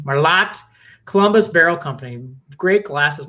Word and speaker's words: Merlot: I pronounce it Merlot as I like Merlot, but I pronounce it hard T. Merlot, Columbus Barrel Company.